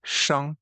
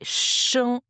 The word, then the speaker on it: 生: je me rappelle bien c'est un autre caractère de premier ton oui c'était Chan ouais Chan s o premier ton ouais Chan qui veut dire